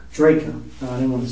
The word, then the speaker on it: Drejka: Interview will be concluded with Michael, pronounce your name? Drejka. Drejka.